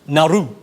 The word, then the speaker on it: Nauru: And we tell Julia Gillard that Tony Abbott's narrow solution is actually pronounced Nauru.